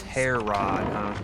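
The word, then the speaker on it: Herod: definitely answers my question it's pronounced hair rod yeah I had a problem with the pronunciation key rod the air rod do you ever play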